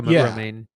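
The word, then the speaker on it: Romijn: But there was this great interview with Rebecca, I don't know how to pronounce her name, Ramjan, who plays Mystique. Oh, Rebecca Romaine. Yes, that's her.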